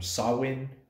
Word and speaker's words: Samhain: that Halloween is derived directly from sawin or Samhain is how it's spelled which is a Celtic